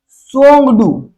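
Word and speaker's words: Tshogdu: भूटान में T silent है यहाँ। भूटान में क्या कहते हैं? सोंगडू।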